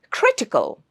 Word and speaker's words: critical: This word ends in a l. The stress will be on the third syllable from the right. So, the third syllable from the right is cre and that's also the first syllable. So it's critical. He is in a very critical condition. It's not critical. You don't stress on the t. You don't stress on the cal. You stress on cre critical.